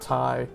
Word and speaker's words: Ti: remember the name of the Nvidia executive that pronounces it Thai like that that dude's awesome he's